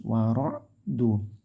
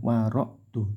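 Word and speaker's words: رعد: harakat zulumatu baru war'du ainnya hati-hati Awas ainnya yang bagus war'du ditekan ya tidak seperti Hamzah war'du tapi wardu lah ini tanwin bertemu wau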